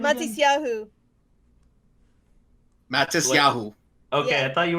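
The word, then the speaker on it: Matisyahu: Matis Yahu. Okay, Yeah. I thought you were saying Mantis Yahoo.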